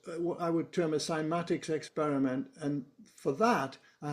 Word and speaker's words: Cymatics: Simatics by the way is spelled with a C. So C Y M A right simatics.